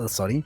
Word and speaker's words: soddy: a soddy now it's i'm fairly sure how it's pronounced assadi yes sorry just with a little bit of a different accent but it's still a soddy and so really just